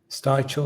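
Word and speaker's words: Stivichall: Stivechel, that's how you pronounce it.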